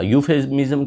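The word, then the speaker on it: euphemism: यूफेमिज्म क्या, ई इसमें silent होता है।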